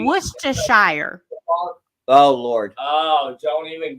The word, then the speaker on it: Worcestershire: I want to hear Amber say Worcestershire.